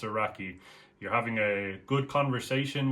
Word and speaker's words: raki: Next thing on our list is raki, and the fact that rakie or rakia, it's actually pronounced raki here in Albania.